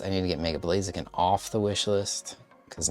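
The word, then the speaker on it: Blaziken: Okay, so I'll probably need to put a couple Blazakin cards on here, right? I feel like I'm saying blazakin. Uh, weird. Really like emphasizing uh a strange syllable there.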